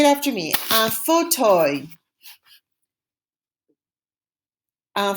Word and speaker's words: fauteuil: A nice comfy chair is un fauteuil. It's a weird word pronounced kind of like the word we learned recently for leaf, right? Feuille is a leaf. An armchair is un fauteuil.